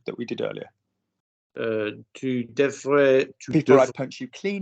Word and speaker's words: devrais: Tu devrais...